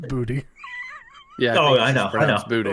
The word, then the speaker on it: Boutte: I just like saying Boutte because he's got to be a French guy, right? French guy for sure, right? I think I'm not trying to steal your thunder. I think it's pronounced booty.